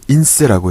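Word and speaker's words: INSEE: 프랑스에서는 인세라고 해요. 인세 이렇게 쓸 수 있고요. 인세 이렇게 쓸 수 있는데 인세라고 발음하셔야 돼요. 아시겠죠? 요 ENSE 이렇게 하면 안 돼요.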